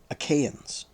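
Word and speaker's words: Achaeans: listeners um info um I've been pronouncing this name aens um I suppose the usual uh pronunciation that people are often familiar with is aans aans okay just so you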